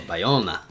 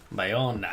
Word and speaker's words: Bayona: looking up the pronunciation of his name. Yes. He's a Spanish filmmaker. Okay. Also, Bayona. Bayona.